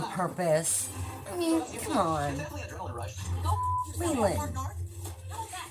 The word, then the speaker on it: Leland: It's Leland, in case you're someone that cannot figure out how it's pronounced. It's like the Lee and the Lin is put together. Leland. It's not Lulin or Leyland.